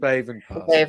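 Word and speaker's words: Béibhinn: Baven Parsons. Baven, yeah. Actually, a lot of people are asking me how to pronounce that name.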